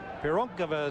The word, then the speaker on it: Pironkova: score you would say who is uh that pyron kova person well pironkova is how you say her name and right